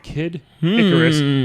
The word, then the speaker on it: Kid Icarus: go first Mario and Kid Icarus or some dick head back in elementary scho kid I Caris used to call him it's not kidis it's kidicarus this person sounds like